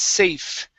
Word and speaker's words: safe: very good now here instead of saying save enough it's safe with the v okay he was safe